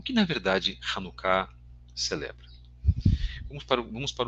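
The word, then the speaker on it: Hanukkah: de hanucá ou variações a palavra eh é pronunciada como como um um k gutural né Eh então nossa a nossa pronúncia seria com hanuka hanuká bem forte tá irmãos o que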